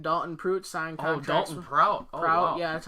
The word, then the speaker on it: Prout: Dalton Prout. Prout, yeah, that's how you pronounce it.